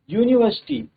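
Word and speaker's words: university: यहाँ पर हम देखेंगे an uncle, but अ यूनिवर्सिटी, यहाँ पर आप पूरा सेंटेंस अगर पढ़ेंगे तो क्या है, यूनिवर्सिटी, वाई का साउंड आ रहा है तो वाई क्या है, कंसोनेंट है।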